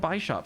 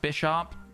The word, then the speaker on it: Bisharp: It's probably pronounced Bisharp because it's based on a bishop in that sense.